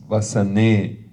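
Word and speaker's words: वसने: who are studying Sanskrit, why am I pronouncing this Vasane and Devi, like an elongated E, even though there's no line on top of that?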